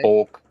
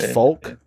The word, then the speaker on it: Polk: It's Polk. It's a P. It was supposed to be a P. You just fucking trolled the shit out of me, bro. How dare you? I just pronounced that Folk in front of the 2 viewers we have.